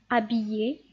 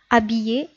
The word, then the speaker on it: habillé: Un H muet est un H qu'on ne prononce pas. On l'écrit mais on ne le prononce pas. C'est-à-dire, on donne un exemple: habillé, hérisson, haricot. Si vous remarquez ici, j'ai pas prononcé la lettre H.